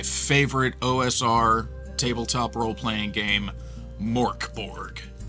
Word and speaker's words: Mörk Borg: From the title page, Mörk Borg is Swedish for dark fort and is pronounced Mörk Borg.